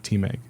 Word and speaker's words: TMEG: church these are these became the members of Team egg so they have teammates that's how you say